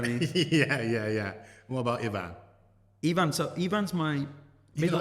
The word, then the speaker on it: Ifan: Even I'm saying it wrong now. It's Ivan. fine, but again, it's spelled with an F, and unless you know the phonetic Welsh alphabet, you know, that's how you would say it.